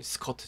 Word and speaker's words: skirt: 네, 여성분이 스커트 지금 입고 계시네요. 스커트, 스커트, 우리 외래어를 많이 씁니다. 스커트 되는데요. 철자를 확인해 보니 S 맞고요. K-I인데 커 발음입니다. 키 아니죠? 키 아닙니다.